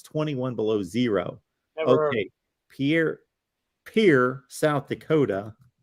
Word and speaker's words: Pierre: Pierre, South Dakota, not Montana.